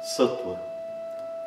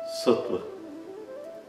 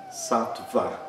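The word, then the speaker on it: सत्त्व: Sattva. Não é Sattva, como muitas pessoas acham que deve ser pronunciado, porque tem uma consoante antes dessa semivogal.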